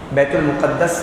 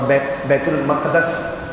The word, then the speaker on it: بیت المقدس: المقدس، دونوں پروننسیشن ہے، بیت المقدس بھی ٹھیک ہے اور بیت المقدس تو کبھی کبھار آپ علماء سے سنتے ہیں یا کبھی ٹیلی ویژن کے اوپر بھی آتا ہے، تو یہ دونوں کے دونوں تلفظ ٹھیک ہے۔ ایلیا بھی کہتے ہیں